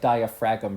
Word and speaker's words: diaphragm: Or it looks like diaphragm, pronounced diaphragm.